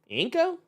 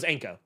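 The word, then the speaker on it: Ienco: Inko. Man, Man, I don't know, man. I probably fucked that name up. I is silent. I is silent. Oh, it's Anko.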